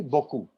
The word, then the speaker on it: beaucoup: सर बोकू में बहुत सारे वॉवेल्स का साउंड साइलेंट है ना. That is French. French में जहां भी ऐसे वॉवेल्स आपस में मिक्स होके आते हैं उसमें वो हो जाते हैं साइलेंट. So जब आप इसके पैटर्न को देखेंगे तो ऑटोमेटिकली विल अंडरस्टैंड कहां पर कैसे बोलना है.